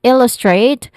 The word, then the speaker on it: illustrate: And then illustrate where the first syllable ill is a stressed syllable and then straight here it has a dip thong a sound and then this we're familiar with that voice th sound is used here and to illustrate this point point.